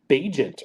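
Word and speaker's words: Bagent: make that happen yeah it's pronounced bajent or something like that agent Tyson bajent that's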